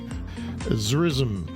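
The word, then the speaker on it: XRISM: through my notes um yes it's pronounced um zzm which is XR i s m zzm I think hie had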